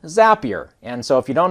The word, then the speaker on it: Zapier: use an app called zapier and zapier uh if you think happier is how it's pronounced basically is the opportunity